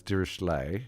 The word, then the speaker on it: Dirichlet: Uh the common way is durishle which is the French way.